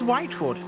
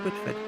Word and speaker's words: Whiteford: it certainly has been unlike your pronunciation of my surname which is whiteford not with it that's the third time